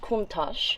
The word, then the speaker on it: Countach: come look at this this is how it's spelled but it's pronounced kontash this is a word